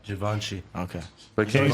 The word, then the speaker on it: Givenchy: This is Da Vinci. That's just crazy. Did I say it right? Givenchy.